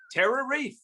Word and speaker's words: TerraReef: TerraReef rhymes with beef.